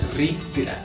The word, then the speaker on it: rikra: Es rikra.